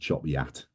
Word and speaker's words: Chop Gate: 1257 which is um at uh it's called Chop Gate and but it's pronounced Choppy Yat and um we finish there and then we transfer down to Gisborough.